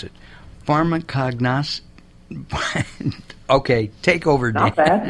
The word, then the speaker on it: pharmacognosy: You have a doctorate in something I had not heard of, and I'm going to try to pronounce it. Pharmacognosy. Okay, take over, Dan. Not bad. Okay. Pharmacognosy, Mark.